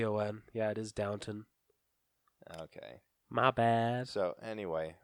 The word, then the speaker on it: Downton Abbey: me and saying it no it's Downton and that's like how it's spelled oh yeah it is oh I'm sorry yeah cuz I keep saying downtown yeah it's do WN